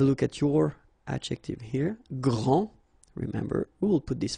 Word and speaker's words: grand: that this first form here for the masculine gr so you don't pronounce the final day will be exactly the